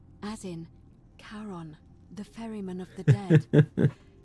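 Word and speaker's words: Charon: it's just as you described it only your pronunciation is a little off the name you heard wasn't Karen it was c h a r o n as in Caron the ferryman of the Dead who in exchange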